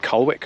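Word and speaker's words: Colwick: be a nice change from colic as I am now told we pronounced it cwick where we were last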